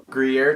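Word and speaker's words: Gruyère: But like, I got this ham melt with like Gruyere cheese.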